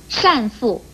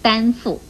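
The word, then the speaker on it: 单父: 最后要提醒您的是，丹这个字一共有丹、善、禅三种读音，像善父不可以念成丹父，禅鱼也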